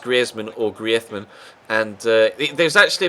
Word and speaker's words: Griezmann: Obviously his nationality is French, and in France they call him Griezmann, but he did ask the commentators in Spain to pronounce it the Spanish way, because he'd lived in